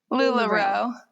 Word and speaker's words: LuLaRoe: LuLaRoe. So I'm just saying it too slow. Yeah. You gotta say it faster.